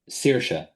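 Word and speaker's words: Saoirse: How is it said? Sersa. Sa. Yeah. Sersa. Okay.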